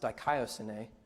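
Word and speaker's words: δικαιοσύνη: So the original Greek word, the word for righteousness would be pronounced dikaiosune, and it's a combination of the concepts of righteousness and justice.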